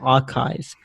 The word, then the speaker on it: arXiv: Astronomy has this fantastic website called Archive, where anyone, it's spelled ARXIV.